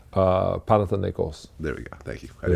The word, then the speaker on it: Panathinaikos: how do you know that's how do you pronounce that the name Panathinaikos there we go thank you butcher she went